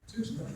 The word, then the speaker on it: Tewksbury: Tewksbury. I didn't say it right. Tewksbury.